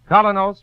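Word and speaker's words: Kolynos: That's spelled K-O-L-Y-N-O-S. Colonos toothpaste.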